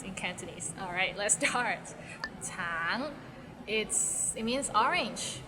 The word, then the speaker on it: 橙: 橙 it means orange, but some people might find it difficult because the end has a little ng, so it's a bit of nasal sound.